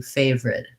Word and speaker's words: favorite: connected speech um so the word favorite looks like it should have three syllables and it looks like it should have the word favor in it and most of the time though however we don't really say the middle syllable in this word we reduce it down to favorite two syllables so the